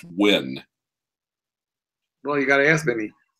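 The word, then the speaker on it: Nguyen: City surprisingly enough and everyone with that names insists it's pronounced wind really you gotta ask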